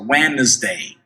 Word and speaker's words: Wednesday: Wednesday, preste atenção na pronúncia de Wednesday, que a gente não pronuncia o D, a gente vê o D ali, mas ele não é pronunciado. Olha só, Wednesday.